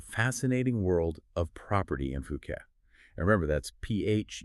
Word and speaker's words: Phuket: Today, we're taking a deep dive into the fascinating world of property in Fuket and remember that's ph u k pronounced puket.